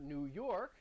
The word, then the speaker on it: New York: And even the word New York, Park. you heard me pronounce it already, New York.